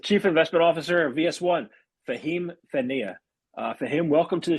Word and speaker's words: Fehmi: My name is Fehmi, not Fahim, or Fehmi for those who cannot pronounce the H.